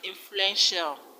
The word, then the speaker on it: influential: In the word influential, the stress is on fluen.